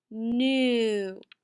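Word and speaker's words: knew: We have digraph EW that we just learned, and we have a ghost digraph KN. Remember, we cannot hear that K, so we mark it out. Sound this word out with me. Ooh, new.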